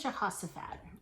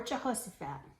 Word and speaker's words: Jehoshaphat: His name is Jehoshaphat, or Jehoshaphat. You can pronounce it any way you want, but he's the same guy.